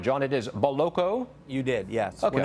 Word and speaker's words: Boloco: and he joins us now i've got the pronunciation right john it is boloko you did yes okay we're not in new